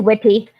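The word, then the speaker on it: Witte: Yeah, it is Witty. So yeah, it's Sergius Yulievich Witty.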